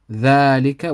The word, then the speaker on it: ذلك: ذلك, we read the dhal 2 counts. So we're actually reading it like this.